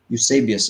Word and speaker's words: Eusebius: Okay, so you pronunciation again, Eusebius? Eusebius.